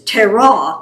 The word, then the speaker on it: Terah: But I found that almost all the names and places put the emphasis on the second syllable. It's Terah, it's Haran, it's Shechem.